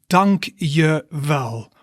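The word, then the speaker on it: dank je wel: thanks a lot and in dutch that is dunk yer well or dunk oh well remember right you can say donkey well but you can also say but it depends on how you say it all right so let's take a look dunk yerval so donkey well means thank you and dunk uh well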